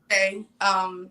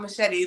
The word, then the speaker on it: Marchet: It's Tierra Oh, Marchet. Not machete, but hey, how are you Close enough, right?